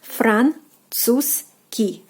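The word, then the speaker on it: французский: I know this like combination of consonants is a little bit harder to pronounce, but just practice more and you'll be able to do it. So, Franzuzski. So, Z sound you're basically omitting. You're like Franzuzski. Like you're like jumping over the z sound and like going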